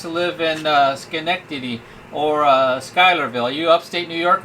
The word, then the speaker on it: Schuylerville: When I went up to Schuylerville, I pronounced it as Schulerville, and people were like looking at me like I'm crazy.